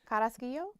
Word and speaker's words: Carrasquillo: Carrasquillo. Say it, Chief. Carrasquillo? Yeah. How do you say it? A good double R roll and an EO.